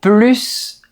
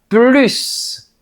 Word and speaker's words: plus: Donc, la seule différence entre les deux phrases, c'est la prononciation du S ou non. J'en veux plus. J'en veux plus. Et devant une voyelle, on doit faire la liaison. Par exemple, c'est plus intéressant. On entend le son z.